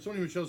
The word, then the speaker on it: Sony Michel: Sony Michel's how you say it right. I'm fucking really bad. Yeah, no, you're Sony Michel. You're right. It is Sony Michel.